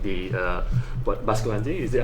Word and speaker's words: Basculante: I mean, obviously, Cartier, some of Cartier watches are influenced by other brands as well, like the Basculante, is that how you pronounce it? Basculante, yeah, Basculante, that's from Reverso, right?